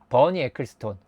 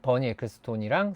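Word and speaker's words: Bernie Ecclestone: 이 포카의 대장이 버니 에클스톤. 제 발음을 진짜 싫어하시는 분들은 정말 기겁을 하시겠지만 이제 많은 분들이 버니 에클레스톤이라고 부르는 네, 버니 에클스톤 네, 있습니다.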